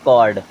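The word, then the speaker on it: chord: देखें क्या लिखा है सी एच ओ आरडी इसे क्या पढ़ते कॉर्ड क्या पढ़ते हैं कॉर्ड सी एच ओ आई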